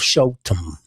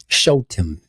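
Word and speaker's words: Shoftim: Or in the Hebrew word it would have be it would be the book of Shofetim. Shofetim. That's s h o f t i m. Shofetim.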